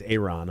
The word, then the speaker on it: Ayron: I was slightly nervous to say his name, though, Ayron Jones, because I still almost don't believe his name is Ayron. Ayron, yeah. And when we first got it, I said Aaron, just because you look